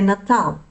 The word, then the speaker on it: Natal: So in European Portuguese, we say Natal. In the Brazilian Portuguese, they're going to pronounce that L at the end slightly different. So it's going to be more of a W at the end rather than an L.